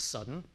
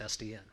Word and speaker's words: SDN: supposed to do so sdn is not an acronym otherwise we'd pronounce it sudden it is an initialism so it's sdn okay so the initialism